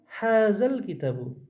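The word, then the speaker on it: هذا الكتاب: কিন্তু যখন হাজা যোগ আল কিতাবু করব না, তো হামজা যাবার যেটা ছিল এটার উচ্চারণটা গায়েব হয়ে যায় একেবারে। এই যে জালের সাথে লামটা জড়িয়ে পড়তে হয়। তো কীভাবে বলবো? হাজাল কিতাবু।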